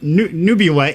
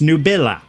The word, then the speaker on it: Nubila: It's not Nubula, it's Nubella, and it's Latin for cloud, I think it was.